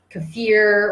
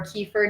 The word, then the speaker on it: kefir: like yogurt Greek yogurt kefir or kefir depending on how you want to pronounce it cottage cheese protein shakes